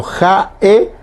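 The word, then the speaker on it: ha'e: Bueno, ahí por ejemplo, ja, e aparece lo que estábamos aprendiendo. Primero la H, que se pronuncia como J. Ja, apóstrofo o puso y la E. Vio que se hace una pequeña pausa.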